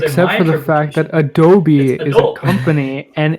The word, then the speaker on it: Adobe: correctly because, and hear me out here, it's pronounced Adobe. Whereas when Reza says it, he says Adobe.